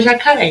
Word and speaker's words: jacaré: Qual foi a sílaba que durou mais tempo? A sílaba que durou mais tempo foi o ré de jacaré, tá? Então, olha lá. A minha sílaba tônica na palavra jacaré é o ré.